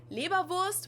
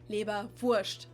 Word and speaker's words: Leberwurst: You can either say Leberwurst, which would be the more standard pronunciation, or in Bavaria, we usually tend to say Leberwurst. So like, we just make it an sh sound instead of the s, Leberwurst.